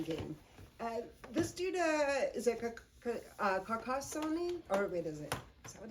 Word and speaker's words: Carcassonne: times, is one called Carcassonne. That's what's how to pronounce it. It is takes place in France, hence the Carcassonne, and it's interesting because it's just a puzzle building game.